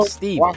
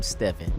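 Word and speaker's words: Stephen: villains of all time, Steven. But throughout this video, I call him Stephon because it's spelled Stephon, but that don't matter, y'all. Tomato, tomato, same thing.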